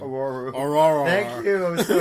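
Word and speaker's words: Ororo: And he pronounced Storm's real name... Aurora.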